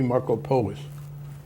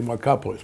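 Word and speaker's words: Markopolos: whistle on Mid off his name is Harry marcoos which is how he pronounced it some non- Greeks would say maropoulos but he says and um he in his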